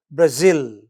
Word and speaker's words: Brazil: So Argentina is Argentina, India is India, but Nepal, second syllable. Japan, end of the word. Nepal, end of the word. Brazil, end of the word.